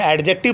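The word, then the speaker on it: adjective: जब डी और जे दोनों कंबाइंड होते हैं तो डी साइलेंट हो जाता है।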